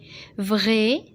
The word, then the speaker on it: vrai: Vrai, صحيح, ou faux. Alors vrai, هذه الAI se prononce E.